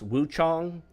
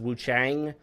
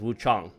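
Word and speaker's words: Wuchang: Uh, Wu Chong, which I guess it's technically pronounced Wu Chong, Fallen Feathers, but everyone says Wu Chang, but if you put it into Google, how do you pronounce it says Wu Chong, so I guess I'll pronounce it correctly.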